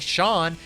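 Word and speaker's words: Sián: Next up, we got the Lamborghini Shawn. Yes, that is how you pronounce it.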